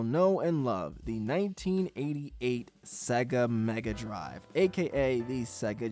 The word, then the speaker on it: Sega: I love how Sega rhymes with mega, and the drive at the end just sounds cool.